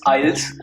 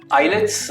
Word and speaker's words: IELTS: Pronunciation भी बताएंगे कि आइल्स होता है कि आइलेट्स होता है? Of course it इज आइल्स, IELTS exam इसे भी कहते हैं। आइलेट्स आई गेस थोड़ा सा पंजाबी टच की वजह से पंजाबी लैंग्वेज के साथ हम ज्यादा कनेक्टेड हैं, इस वजह से